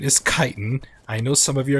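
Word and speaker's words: chitin: remind everybody why that I know the correct pronunciation is kiten. I know some of you are going to be correcting me about the how about how it's how it's kiten. When you're in my streams it's chitten.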